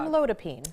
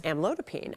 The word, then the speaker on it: amlodipine: She asks, I have high blood pressure and am taking, how do you pronounce this drug? Amlodipine. Amlodipine.